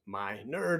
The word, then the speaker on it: Minard: lost my job yet Dr Minard pronounced my nerd and I'm honored to